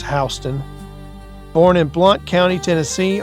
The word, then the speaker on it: Houston: We have Robert F. Houston or it might be Housten here as well. It's how they pronounce it in in Georgia. It's Housten.